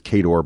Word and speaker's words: Khador: Which, by the way, they pronounce it Khador in the books. So I know that the pronunciation is Khador, but you know what's hilarious is we're interviewing Matt Wilson, and he's of course pronouncing it the correct way since he created the